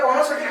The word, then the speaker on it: coenocytic: सिनोसिटिक या कॉनोसिटिक हाइफी कहते हैं, they are continuous tubes filled with multinucleated cytoplasm, multinucleated cytoplasm without any foundation, कोई foundation नहीं है।